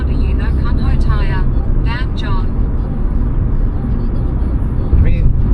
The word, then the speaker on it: Kumho: Oh, I don't know about Kumho tires, but it's actually pronounced Kumho. Tire bitch, yeah.